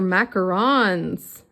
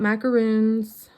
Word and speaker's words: macaron: A 7 for macarons. Not macaroons. Apparently it is macaron. And bakers get very testy when you say it wrong.